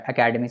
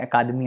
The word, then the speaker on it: अकादमी: अब आगे बात करते हैं साहित्य अकादमी अवार्ड के बारे में, अकेडमी सॉरी, इसका नाम ऐसे ही प्रोनाउंस करते हैं, अकादमी अवार्ड।